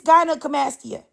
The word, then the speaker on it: gynecomastia: It's gynecomastia.